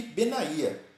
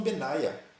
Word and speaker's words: Benaía: E aqui Benaía, alguns falam Benaia. Eu tinha um amigo que conhecia uma pessoa que o nome dele ele chamava Benaia, gostava de ser chamado de Benaia. Mas aqui entendemos que a pronúncia correta, mais acertada, é Benaía.